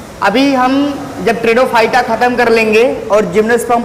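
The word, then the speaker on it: Pteridophyta: ट्रेडोफाइटा में पी आपका साइलेंट है, इसीलिए इसका प्रोनाउंसिएशन हम टी से करते हैं।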